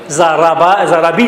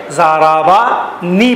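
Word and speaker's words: ضربني: ضربی نہیں پڑھا جاتا، بلکہ کیا پڑھا جاتا ہے؟ ضربانی پڑھا جاتا ہے۔ یہاں یہی بتائیے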